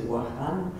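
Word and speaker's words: وهران: He's from Oran, and he plays on the French pronunciation of Oran and also the Arabic pronunciation of the city, which is Wahan. And he talks about the wah and how it sounds like a dog's bark.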